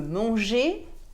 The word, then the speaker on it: manger: par exemple je veux manger un gâteau manger s'écrit avec un air à la fin mais il ne se prononcent pas er se prononce et manger et noir et la